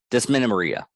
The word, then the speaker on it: Dysmenorrhea: I have the word, and I also have the pronunciation for the cramping. Yeah. See this? It's Menorrhea. Dysmenorrhea.